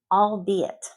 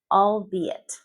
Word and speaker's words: albeit: Albeit. All be it.